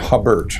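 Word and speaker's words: Hubbert: Hubard. Hubard and Hubert.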